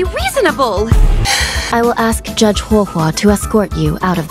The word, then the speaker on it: HuoHuo: HuoHuo.